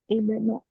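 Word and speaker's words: ابن: Ibnu. Ibnu ya. Ya betul dibacanya ibnu. Kalau menurut rumus kan harusnya mah u ya. Tapi kalau dibaca u benu itu kurang tepat ya, kurang tepat. Maka dibacanya harus i.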